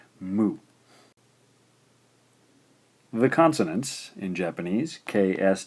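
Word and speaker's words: む: we can go mmm ooh move this is pronounced mu the consonants in Japanese KS T and H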